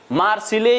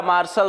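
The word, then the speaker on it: Marseille: लिखते हैं लैंडे इन मार्सिले या मार्शल शहर जो भी आप नाम कहिए इसका दो तरीके से उच्चारण होता है इन इंडियाज क्वेस्ट फॉर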